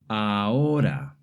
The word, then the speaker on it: ahora: In Spanish, the letter H is always silent. Whether it's at the beginning, in the middle, or at the end of the word, it's never pronounced. Here are some examples of words that have the letter H. Hola, hotel, ahora.